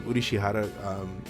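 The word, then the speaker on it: Urushihara: It's cool to see how Ashiya and Udishihara, there's how you pronounce his name, Udishihara, kind of cope with having a child.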